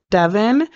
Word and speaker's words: Devon: and so yeah yeah I know some people pronounce his like that spelling Devon but it's it's Devon his name is Devon